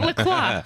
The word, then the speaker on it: LaCroix: Pronounce it Lacroix.